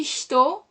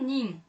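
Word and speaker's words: 人: Et puis, d'autres prononciations pour dire hitori, futari, sannin. Et la prononciation nin.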